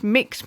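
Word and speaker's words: Mx: you what mix is amazing mix is usually pronounced mix mix mix mix is an English language neologistic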